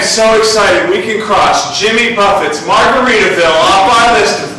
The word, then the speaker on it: Jimmy Buffet: We were expecting like a guy in a fun Hawaiian shirt or something, you know, Jimmy Buffett. No. It is pronounced Jimmy Buffet.